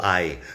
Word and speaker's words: hay: All of this is just normal existential ay. The pronunciation ends up being the same because the H is silent again and you end up with the A and the Y or the I sound.